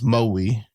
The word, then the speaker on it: Maui: So kind of more biting down on the on the vowels. Maui.